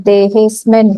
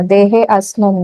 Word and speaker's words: देहेऽस्मिन्: मैंने बोला अवग्रह को नहीं प्रोनाउंस करना है, देहेस्मिन् होगा, देहे अस्मिन् नहीं।